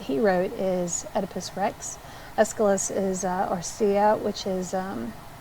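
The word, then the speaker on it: Aeschylus: Plato Plato taught Aristotle escalus you say it like an escalator escalus was a great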